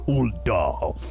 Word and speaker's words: Ul'dah: Why was Ul'dah and solely Ul'dah in a different voice? Because that's how you pronounce it. That is a proper pronunciation of Ul'dah.